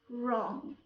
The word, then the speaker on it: wrong: An example: rap, right, rest, wrong. Also, when we have a word started with WHO, W here is silent.